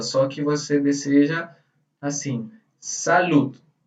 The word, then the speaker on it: salud: Em português, a gente também deseja a saúde para a pessoa, só que você deseja assim, salud. Salud. Aquela pronúncia do D. Salud. Não é salude.